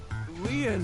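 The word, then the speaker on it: Lien: stay by your side my name lean is spelled l i e n in French Leen means Bond just like t means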